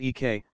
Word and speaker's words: Eek: It's pronounced Eek, like my initials, said Eek.